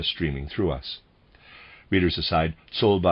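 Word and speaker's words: Czolbe: Readers aside, Solba, I'm pronouncing it that way, is spelled C-Z-O-L-B-E, Solba.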